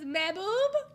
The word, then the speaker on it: Mehboob: How do you pronounce it? I love that phrase. Mehboob. It says Mehboob.